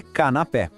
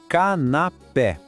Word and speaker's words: canapé: A pronúncia é le canapé. Mais uma vez, le canapé. Percebe o acento no E? É ele que deixa o som bem aberto, pé.